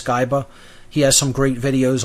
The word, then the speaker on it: Skiba: in his newer material rob skyba or skiba i'm still not really sure about the pronunciation i think it's skyba he has some great